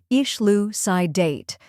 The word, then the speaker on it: elucidate: Let's break it down. First, we have IH, which sounds like the E in bit. Next is lu, which rhymes with U and is the stressed syllable. Then comes psi, which sounds like sigh in simple. Finally, date, which rhymes with late.